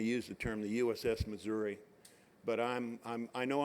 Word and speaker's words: Missouri: from him later because it is not the Missouri it is the pronounce it for me will you Mike it's the the mura this is the USS Missour and if I use